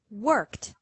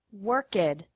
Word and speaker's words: worked: This means that the past tense of work is pronounced worked and not worked.